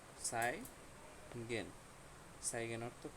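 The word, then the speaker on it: zeigen: এটা হচ্ছে সেট, হ্যাঁ, জেট উচ্চারণ করবেন না, এটা হচ্ছে সেট, স উচ্চারণ করবেন বা এস এর মতো উচ্চারণ করবেন। এটা হচ্ছে সাই, না? সাই গেন, সাই গেন অর্থ কি?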